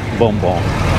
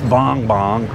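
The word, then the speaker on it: Bongbong: let me what likes boom boom boom boom i better pronounce it right somebody say it's not boom boom it's bong bong uh even i'm pronouncing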